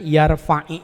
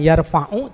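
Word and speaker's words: يَرْفَعْ: dari ayat sambungannya karena bunyinya itu kan yarfai' itu disukunkan membacanya yarfa gitu ya bukan yarfauu tapi yarfai itu karena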